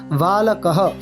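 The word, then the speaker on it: বালকঃ: কেন না ওই যে বিসর্গটা সংস্কৃতে আমাদের কিছুটা হ এর মত উচ্চারণ হয় তাই কি বলছি আমরা বালকহ তারপর বালকম অনেকে বালক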